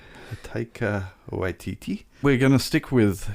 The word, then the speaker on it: Taika Waititi: I figure that with the director, whose name always eludes me as to how to pronounce it. I'm pretty sure it's Taika Waititi. Taika Waititi.